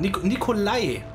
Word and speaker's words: Nikolai: Ei ausgesprochen. Nikolai.